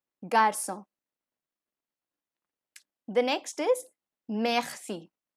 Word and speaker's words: merci: Garza that is boy in French so the pronunciation is J ah eh see or o n Garza the next is merci merci m a uh say e that is thank